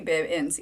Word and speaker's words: Bibbins: My last name is pronounced Bib, like baby Bibbins.